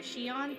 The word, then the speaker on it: Xion: it's aspen it's okay when i hear shion uh there's a character involved in kingdom hearts and it's spelled x-i-o-n so the spelling